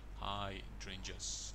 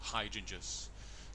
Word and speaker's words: hydrangeas: We have this plant here, which is hydrangeas. Okay, so again, it's quite tricky, these words. If you see here, it's hydrangeas, and the stress is on the second syllable, hydrangeas.